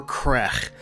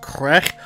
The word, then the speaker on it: Qegh: called star trek killer crack i think my klingon pronunciation is accurate there if it is that's pronounced crack although that is not